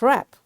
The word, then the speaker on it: wrap: tool you know so all these words are written with w but it's this w is silent over here y because all the w's are followed by r you got the rule whenever w is followed by r this w will be a silent letter in that void the